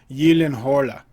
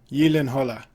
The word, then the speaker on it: Gyllenhaal: pronounce his name and he said the correct pronunciation i think was yellin hala ye lin holla i love that jake